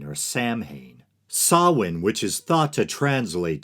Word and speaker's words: Samhain: Pagan New Year Festival sawin spelled and often mispronounced as Samhain or Samhain sawwin which is thought to